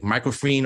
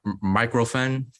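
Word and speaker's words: Microphen: I don't know how to pronounce it, like microfreen or microfen. I think it's microfen.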